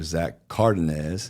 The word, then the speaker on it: Zach Cardenez: Zach Cardenez. That's it. And I said it right this time. Last time I mispronounced it, even though we talked about it.